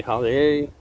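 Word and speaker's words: Hollier: air some people say holiday if you pronounce it like it's spelled it's hollyer and i have a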